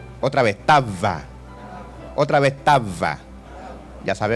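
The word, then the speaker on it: תאווה: La palabra pasión en hebreo es tava y se escribe T, A, tilde en la A para los que están copiando, T, tilde en la A, otra vez A, V y A, tava. Diga conmigo, tava.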